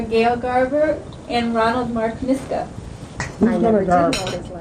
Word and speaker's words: Miska: Just the way it sounds.